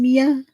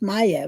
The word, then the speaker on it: Mia: Francesca, my next door neighbor's daughter, is Mia. See? And I'm pretty sure her name isn't pronounced Maya, right?